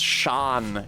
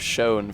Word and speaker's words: shone: I like him because he says Sean instead of Shone for S-H-O-N-E, which you have to say that way sometimes because it's being used in verse and it's rhyming with other things that end on and not own.